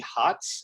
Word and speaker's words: Hotz: to me i saw jeremy hotz is that how you say his name yeah yeah jeremy hutz lives in la i